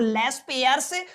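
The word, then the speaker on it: Laspeyres: इसको बोलते हो आप लोग लेस पेयर्स प्राइस इंडेक्स। ये आपका पहला तरीका है जिससे आपको कैलकुलेट करना सीखना है। लेस पेयर प्राइस इंडेक्स ये आपका पहला तरीका रहेगा।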